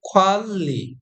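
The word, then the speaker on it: 관리: এখানে একটা বিষয় খেয়াল করেন, নিউন বাসিমের পরে যদি রিউল থাকে এই নিউনটিও রিউল হয়ে যাবে। অর্থাৎ আমরা যদি এখানে মনে মনে রিউল ধরি তাহলে সঠিক উচ্চারণ হয় খোয়াল্লি, খোয়াল্লি।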